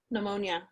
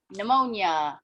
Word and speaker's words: pneumonia: silent so pna is pneumonia pneumonia very good right yeah the p sound did i say the a is silent that the p is silent so it really should